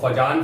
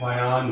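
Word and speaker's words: Fajans: Spelling में जे आता है लेकिन जे आपका साइलेंट है, तो फजान फजान नहीं करना है, इट इज फायान रूल।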